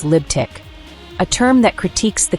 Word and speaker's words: Libtic: The letters T and Q produce a TQ sound, resembling tic, forming the second syllable, while L, G, and B condense into lib, symbolizing a radical liberal mindset. This reformulation yields Libtic, a term that critiques